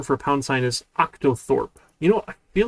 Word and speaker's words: octothorpe: Octothorpe? Is that how you pronounce it? Octothorpe. Octa. Oh, it's not octo. Octothorpe.